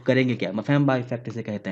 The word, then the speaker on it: Mpemba: देखो, नाम ऐसा है कि ये ही नहीं बोला जा रहा, तो करेंगे क्या, मफेम्बा इफेक्ट इसे कहते हैं। ठीक है, बड़ी मुश्किल से सीखा मैंने भी ये प्रोनाउंसिएशन, इसे क्या कहते हैं, मफेम्बा इफेक्ट।